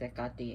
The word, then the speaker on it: Hecate: Hecate, Kali, but it's her pronunciation is Ekati in Greek, but we call her Hecate here.